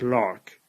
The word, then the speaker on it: LHRRCC: relations with constant coefficients now I'm going to abbreviate this lhrcc and since the abbreviation is pretty much as hard to say as the full name I'm going to pronounce this as lark so a lark is